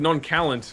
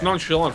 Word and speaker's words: nonchalant: It's like how Mrs. Klo0ga says, said non-calant before she knew how to say it by reading it in books. Yeah. It's nonchalant for anyone who's confused by what I'm actually saying, because it's so far